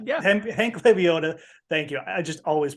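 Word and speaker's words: Lebioda: 6200 hey Hank Hank uh Hank the big labiota yeah Hank leviota thank you I just always pronounce his name incorrectly um he doesn't deserve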